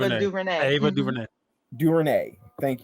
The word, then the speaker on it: DuVernay: I can't pronounce Ava it. DuVernay.